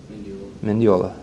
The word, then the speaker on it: Mineola: and Colby all right how do you say your last name Mineola all right just like it looks okay Colby tabatha hello